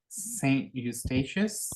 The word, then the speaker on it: Saint Eustatius: We call how it would you Saint pronounce it in Dutch? Eustatius.